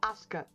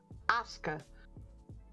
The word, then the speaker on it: Asuka: Aska. Asuka. Asuka. Two syllables. Asuka.